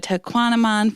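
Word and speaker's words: Tahquamenon: We went up to the Tequanamon Falls.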